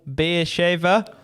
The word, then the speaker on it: Beersheva: Was it Hapoel Beersheva? Beersheva, yeah. Yeah. So pronunciation, spot on.